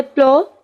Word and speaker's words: plough: ठीक है, उसके बाद हमारे पास वर्ड है प्लो, PLOUGH, यहाँ पे भी GH साइलेंट साइलेंट है. ठीक है, कोई साउंड प्रोड्यूस नहीं कर रहा.